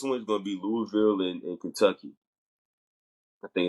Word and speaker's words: Louisville: Um, Next one is going to be Louisville and Kentucky. I think it's Louisville and Kentucky. Now, and let me correct myself. It's not Louisville. It's Louisville.